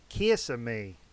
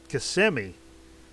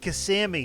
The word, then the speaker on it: Kissimmee: there that's a cute name of a town kissing me kissing me Florida ain't that cute and I'm like I think that's pronounced Kissimmee and she's like no kissing me that's cuter